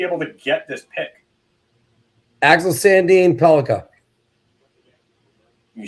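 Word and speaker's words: Axel Sandin-Pellikka: Axel Sandin Pelika.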